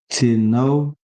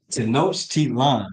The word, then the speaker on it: Tenochtitlan: Because there's a word called let me make sure I pronounce it right. Tino, hold on, Teno, Tenochtitlan, right?